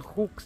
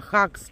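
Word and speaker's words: hugs: английском это обнимашки типа вообще-то на английском там написано Хукс а хакс читается да Ну да хакс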